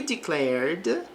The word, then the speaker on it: declared: He declared his love for her. Então, ele declarou, aqui o verbo está no passado, não pronunciamos o E neste verbo, aqui do ED.